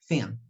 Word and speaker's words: thing: Okay, so this word, for example, we won't speak the letter G. We are going to pronounce just until here. Okay, thin. Let's listen. Thing.